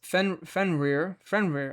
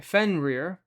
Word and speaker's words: Fenrir: Is Fenrir, that's pronounced as Fenrir. Okay, Fenrir.